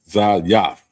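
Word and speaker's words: זית: And it's pronounced Zayaf.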